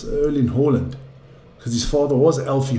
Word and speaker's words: Erling Haaland: view on these things, he was asked to pronounce his name for the World Cup authorities and he said, "My name is Erling Haaland," as his father's was, but think his people